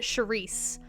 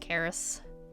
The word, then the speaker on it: Karis: So everyone pronounces it Charisse or Charis. It's just Karis.